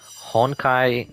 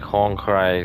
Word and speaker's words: Honkai: I always say something like Hong Kai Star Rail. It's like ah I mispronounced it.